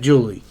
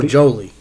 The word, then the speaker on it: Jolie: poirier and his wife julie or jolie this is how you pronounce it i think i'm